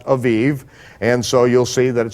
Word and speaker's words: Aviv: In Hebrew, it would be pronounced Aviv.